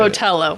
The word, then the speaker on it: Botelho: is it Bell botell how do you say botell botell see I always say it wrong he's adding an extra H everyone does that I think it's just uh not right because there's no extra H in there it's so b o